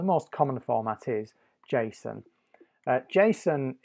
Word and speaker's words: JSON: JSON is spelt J-S-O-N. It stands for JavaScript Object Notation, but it's normally pronounced JSON.